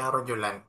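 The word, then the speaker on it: يا رجلاً: Yang mana cara bacanya itu dibaca nasab. Dan ini bisa ditanduin ya rojulan. Nah, cara bacanya ya rojulan.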